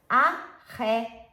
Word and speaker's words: ajedrez: Jugar al ajedrez. Ajedrez. So the Z, remembering in Spanish, it's a TH sound.